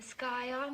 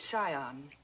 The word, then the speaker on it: scion: Yale yacht and the sky on of a prominent family the word is Scion the sea is silent yes well he looked